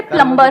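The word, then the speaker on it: plumber: सर जैसे प्लम्बर, करते हैं। सब लोग प्लम्बर बोलते हैं हमारे देश में, बढ़िया है यार, क्या दिक्कत है? बी साइलेंट है उसमें।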